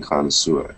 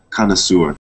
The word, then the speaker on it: connoisseur: Connoisseur. Connoisseur. Yep, connoisseur. And that is a French origin.